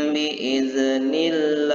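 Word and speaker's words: بإذن الله: Fi'atan kasiratan bi'iznillah wallahu ma'as sabirin. Sekali lagi, fi'atan kasiratan bi'iznillah wallahu ma'as sabirin. Jadi biiznillah, bukan biiznillah, ya, dibaca harus tipis karena dia lafzul jalalahnya didahului huruf yang berbaris kasrah.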